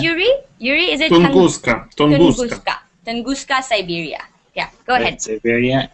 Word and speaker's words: Tunguska: Tunguska, Siberia.